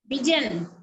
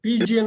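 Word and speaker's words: pigeon: அடுத்தது முக்கியம் ஒரு பறவை இது பிஜன் பிஜன்னு படிக்கணும் பிஜன்னா எது சைலெண்ட் பிஜன் எது சைலெண்ட் இங்க பிஜன் பிஜியன் எல்லாம் சொல்லக்கூடாது பிஜன் இ சைலன்ட் ஓ இ ஓ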